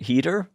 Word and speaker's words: Heder: It's not Hater, it's Header, right? Heater. Heater. Heder.